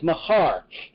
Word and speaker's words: Mahar: As I said, Mahar is how the Hebrew characters for morning or morrow, the next day, is set in the Hebrew in the way we know to pronounce it. To the best ability that the scholars have determined, it's Mahar.